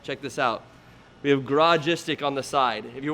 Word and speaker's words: Garagistic: the biggest one check this out we have garage istic on the side if you're wondering about pronunciation it's Garage istic Nagaraja sticks not a